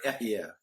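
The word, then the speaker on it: אהיה: which is in English, the way you pronounce it, you say Ehiyah.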